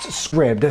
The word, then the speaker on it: Scribd: Scribd or Scribe? It's pronounced Scribd, so if you and